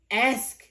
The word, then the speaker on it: ask: say ask when you say I want to ask you something the word is a if you